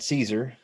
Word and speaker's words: Szczur: is the cardinals signed matt caesar just like julius caesar's how you say the last name even though it's spelled quite differently they signed him on